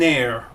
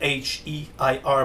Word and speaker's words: heir: He was an heir, you know, h e i r, but you don't pronounce the h.